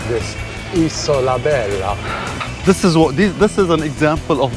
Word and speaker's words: Isola Bella: Isola Bella.